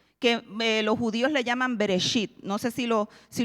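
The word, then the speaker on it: בראשית: los judíos le llaman bereshit no sé si lo si lo pronuncié bien lo en hebreo se dice bereshit y reit es el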